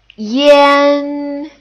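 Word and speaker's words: yan: Without an initial, it's pronounced as Y-A-N. And with the initial, it's spelled as the initial plus I-A-N.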